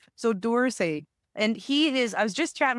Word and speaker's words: Dorsay: Dorsay? Kind of like the museum in France. I just want to make sure I'm pronouncing it correctly. So Dorsay, and I was just chatting with him.